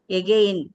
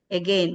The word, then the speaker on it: again: that is a weak so we don't say again we should not say again we have to say again again that a should be weak should be weaken almost we have to swallow it again Again, again again.